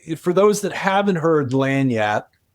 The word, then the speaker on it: lagniappe: If you're trying to say it properly, I always say go by the phonetic, which is L-A-N-Y-A-P. Lagniappe.